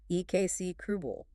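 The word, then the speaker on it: execrable: Excribble. E X E C R A B L E KC krubal.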